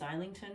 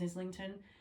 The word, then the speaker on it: Islington: I now know that it's James lington not James Islington I just thought you